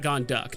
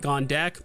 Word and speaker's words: Gondek: I guess it's Matt Gonduk, not Gondek, but whatever.